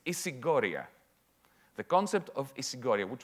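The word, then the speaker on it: ἰσηγορία: I'll pronounce it in Greek. It's isigoria.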